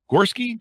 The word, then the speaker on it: Gorski: Gorski. Do I have that pronounced rightly?